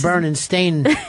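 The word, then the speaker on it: Berenstain: Um, but she does have a Bernstein bear look or burn and stain bear. The proper way to say it.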